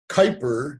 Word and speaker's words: Kuiper: And my email address is, D-I-C-K, .Kuiper, and it rhymes with sniper, but it's spelled Kuiper.